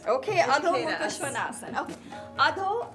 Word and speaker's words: Adho: Adho is downward, Mukha is face, Shwana is dog.